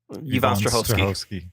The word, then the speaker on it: Yvonne Strahovski: Yvonne Strahovski.